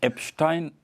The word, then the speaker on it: Epstein: Ah, c'est sûr que, Epstein, moi j'avais la prononciation à l'allemande, donc Epstein, c'est quelqu'un qui a du flair.